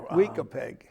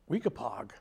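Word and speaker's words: Weekapaug: Weekapeg, Well, no. Weekapog Weekapog.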